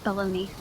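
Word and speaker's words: bologna: Big house and half as it has a weird spelling. Let me type it out. That's That's pronounced baloney.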